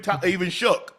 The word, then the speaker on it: Shough: Tyler, how do you pronounce his last name? Shough.